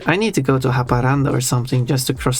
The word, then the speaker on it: Haparanda: Well, in Finnish is Haparanta or something. Haparante. I don't know. I don't know how they say it locally. I would say Haparanda.